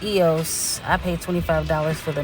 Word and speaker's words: EOS: anything at home um so EOS is actually pronounced EOS I pay $25 for the middle tier I